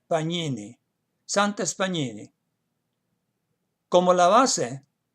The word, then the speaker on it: Pagnini: la O, Santes Pagnini, que se pronunciaría Pagnini, Santes Pagnini, como la base para su traducción de la Biblia al español.